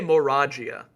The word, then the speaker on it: Moragia: I say Moragia. I do too. All right, because it's like Volvagia.